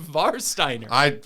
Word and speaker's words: Warsteiner: Yeah, but it's not an English beer. It's pronounced Varsteiner.